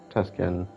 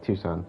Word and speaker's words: Tucson: candidates being held outside Tuscan oh Tucson sorry Tucson I misspelled mispronounced that one 27 already extraction